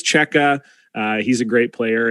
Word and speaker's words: Cseke: hard to pronounce uh everyone's always saying oh cesky seki uh you know so anyway it's cheka uh he's a great